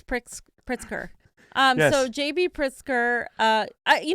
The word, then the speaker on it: Pritzker: Because I thought it said Pritzner, but it's Pritzker.